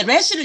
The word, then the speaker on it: ר: 래쉬를 얘기 드린 이유는 이건 영어의 R 발음에 해당돼요. R. 근데 조금 이제 히브리어식으로 하면 예, 에레브가 뭐냐면 저기 저녁이에요. 저녁이 에레브. 근데 영어식으로 하면은 herb 뭐 이렇게 하겠죠. 영어식으로는 굴리니까. 근데 히브리어식으로는 R이 이렇게 해요. 그래서 리얼은 리얼인데 조금 바람 새는 R 사운드예요.